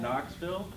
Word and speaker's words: Knoxville: there an n in Knoxville yes there is no as a beginning letter sure there is why were they call Knoxville well it's very logic that way because K is silent but that's I think